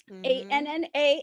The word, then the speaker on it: Anna: A-N-N-A, Anna. Which rhymes with Hannah.